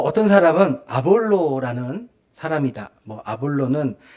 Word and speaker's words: 아볼로: 아볼로는 요즘 발음으로 아폴로예요, 아폴로. 네, 아폴로를 발음이 좀 순하게 돼서 아볼로라고 하는데, 아폴로라는 사람이 썼을 것이다.